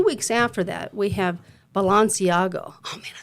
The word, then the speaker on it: Balenciaga: And then just a few weeks after that, we have Balenciaga.